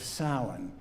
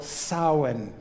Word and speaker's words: Samhain: I just don't see how those letters could possibly spell Samhain, but they do. One of my favorite Celtic vocalists is Moira Brennan, spelled like this. Anyhow, Samhain was how my pre-Christian European ancestors honored their ancestors.